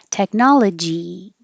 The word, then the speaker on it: technology: Technology, technology. But to help train your tongue to go higher, then try saying the word eat after it. Technology. And then no T. Technology.